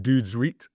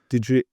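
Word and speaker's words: Dødsrit: And Dodsrit is pronounced Dudesrit. Dudesrit. Like a dude. Reet. Dudesrit.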